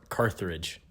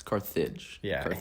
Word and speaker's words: Carthage: accident I say car carthridge it's Carthage College there's no like other R but but yeah so